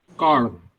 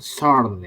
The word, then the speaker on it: corn: Corn. Ini Corn. adalah jagung. Hmm. Nah, bacanya pakai K, corn. Bukan sorn ya, ngerti ya? Bukan pakai S ya.